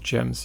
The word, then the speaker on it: gem: And we get a bunch of gems here. It's gems, not gems, right? Just making sure I'm not mispronouncing this one. Gem. Yeah, like jump.